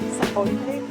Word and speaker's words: sapote: Then also smoothie, the black sapote, is that how you say it?